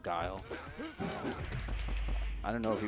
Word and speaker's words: Guile: the same kids that would say like Gully instead of guile I don't know if